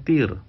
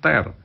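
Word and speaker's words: tear: r air mata dibacanya Tir tapi ada t e a r menyobek dibacanya ter nah ini lebih kompleks lagi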